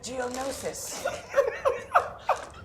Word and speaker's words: Geonosis: To Corian from Geonosis. Geonosis. How come you can pronounce that but you can't get me name?